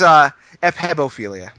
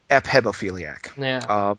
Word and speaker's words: ephebophilia: I believe it's pronounced I'm pronouncing this so wrong right now. It's like hepatitis C. It's ephebophilia.